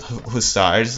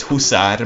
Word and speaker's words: hussar: I told you I'm having trouble pronouncing it because real Hungarians pronounce it hussar, but English people pronounce it hussar. So I'm trying to mix it between the two, like hussar.